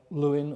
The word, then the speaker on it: Lewin: was an american called kurt lewin or kurt levine depending which way you want to pronounce it who basically invented action